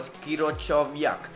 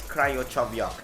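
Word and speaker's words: Krychowiak: First up we have 2 CDMs, Andor Iturraspe and Gregor Kirochoviak. I'm not too good with pronunciation, no, it's Kryochoviak.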